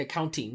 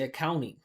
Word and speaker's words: accounting: So here we got, for example, here's a silent T, accounting, right? A lot of you people work doing this every day, accounting. Work for an accounting firm. I used to teach in accounting firms. I used to teach in KPMG. I used to teach in EY. Right? We don't say accounting. We say accounting.